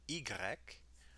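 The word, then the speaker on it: i grec: e e a the french letters eeks and igrek require you to use the e vowel which is essentially the same as the long e sound in english the letter igrek was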